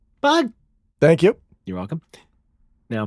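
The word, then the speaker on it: Bug!: Hang on, you don't pronounce the exclamation point in Bug? Bug.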